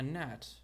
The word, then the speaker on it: gnat: She's like a bug, a gnat. The G is silent.